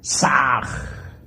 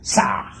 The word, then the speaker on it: Sah: Saj se escribe con las letras S-A-H. La H suena siempre como J.